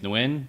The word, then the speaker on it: Nguyen: So because my last name is Nguyen, so there's the G is silent, so I put in silent G in Noise.